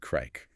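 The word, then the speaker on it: craic: Often referred to as having good crack. Let's clarify crack again. It sounds like crack. It does. It's spelled C R A I C.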